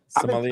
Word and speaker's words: sommelier: Sommelier? I've been saying sommelier. Sommelier. The R is silent.